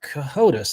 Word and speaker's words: Cohodes: Uh, Mark Cahotus. I'm pronouncing the last name correctly, right?